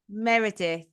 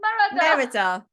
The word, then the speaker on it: Merida: Merida? No, that's not right. Is it? Meredith. No, it says Merida. You can't be her. I can't even say a name. It's Merida.